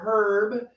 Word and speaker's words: herb: For anybody who's curious, Irish moss is apparently an herb that's used for Or herb, if you're in England. They actually pronounce the H.